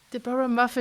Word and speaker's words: Deborah Muffet: thank you so much Deora muff do I even say your your name correct yes you do thank you yes you oh great de mu okay so it's exactly how it's spelled great yes well thank